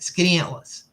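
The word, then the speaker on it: Skaneateles: Atlas by the way that is how you pronounce it skinny Atlas skinny atas skinny Atlas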